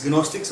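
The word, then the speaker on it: Gnostics: English word है नोस्टिक्स नोस्टिक्स और नोस्टिक्स जी जी silent है स्पेलिंग है जी एन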